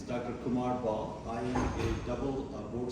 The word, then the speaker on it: Kumar Bahl: sure so as you uh after practicing uh pronounce my name correctly it's Dr Kumar ball I am a double board certified psychiatrist uh